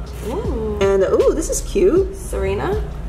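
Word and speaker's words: Tsareena: oh this is cute serena no what that's what it's called it's the tea is silent are you serious am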